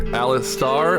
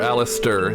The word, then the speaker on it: Alistister: Pronounced either Alistar or Alistister. The I at the end is silent. So it's it's explicitly not Alistair. It is Alistair.